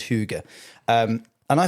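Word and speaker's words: hygge: have this thing called huga. Oh, yeah. H y g e. It's very hard to pronounce. It's pronounced all sorts of different ways. I believe it's huga.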